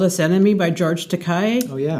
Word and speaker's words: Takei: One is called They Called Us Enemy by George Takei. Oh, yeah. Takei, yeah.